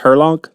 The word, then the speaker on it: Herlong: is your last name pronounced Herlong? Yes. Good job. Her log. Herlong. Herlong. Herlong. All right. Like if you're describing somebody, they're tall. Her long, like, you know, I'll never forget it.